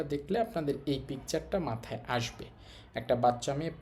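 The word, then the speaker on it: 足: তো সিঙ্গেল কাঞ্জিটা থাকলে আমরা বলব আসি। আসি হচ্ছে পা।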